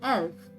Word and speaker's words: elf: as elf nakhyan mal 11 is called as elf 12 is called as wall not the but